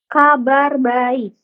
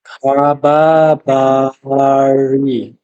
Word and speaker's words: kabar baik: Eh, and the answer, how do you say I am fine? Kabar baik. Oke. Kabar bari. Barik barik. Baik. Kaba barik. Kabaik baik. Kaba baik. Iya.